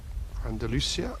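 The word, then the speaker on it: Andalucía: of Al Maria in Andalusia in Spain Andalucia there's lots of different ways of pronouncing in English only one we're pronouncing it in Spanish so we're bringing you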